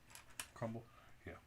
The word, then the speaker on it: Crumbl: Like I kind of Is it remember, but don't Crumbles? remember. No, it's CRUMBLE. But it's spelled. I mean, BL. yeah, BL. Crumble.